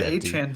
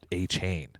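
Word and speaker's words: Achane: by Devon Achan or I think his enunciation is A-Chain, which is what I was originally calling him back. I always called him A-Chan. The first days. Really? I think it's A-Chain.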